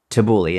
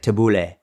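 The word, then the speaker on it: tabbouleh: Tabouli is like a salad type of dish, tabouli. And so in a Middle Eastern, you'd say like, taboule is how they pronounce it. But in English you say tabouli, it's like, but whatever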